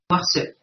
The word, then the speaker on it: Noirceuil: Quand vous fermez les yeux, vous prononcez noirceuil, très bien. On entend noir, on entend la noirceur, comme la blancheur, du noir, vous avez la noirceur. On entend œil.